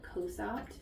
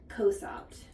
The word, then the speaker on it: Cosopt: Then I would recommend switching her to a drop called Cosopt. What's it called? Cosopt. Cosopt? Cosopt. Could you spell it?